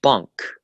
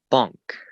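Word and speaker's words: بانک: The word sounds very similar to the English. Bunk, bank. Just the A is pronounced a little bit more.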